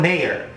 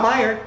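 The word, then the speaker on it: Mayer: a you know what M A ye e r is John Mayor that's how you say it mayor not Meer that's one of those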